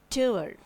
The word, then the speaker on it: tour: So the right way of pronunciation is resume and not resume. Tour.